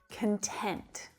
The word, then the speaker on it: content: way to be so when it's used as an adjective the syllable stress shifts to the second syllable and the first syllable reduces right down so the vowel sound becomes a schwa content content so listen to the difference between those two words content and content